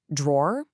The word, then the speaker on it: drawer: Drawer, just one quick syllable. That's probably the most common way to say it, especially if you speak American English. You know, it rhymes with words like for or more.